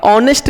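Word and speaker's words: honest: ऑनेस्ट का उच्चारण pronunciation करते हैं तो ओ आता है और हिंदी का वोवेल है।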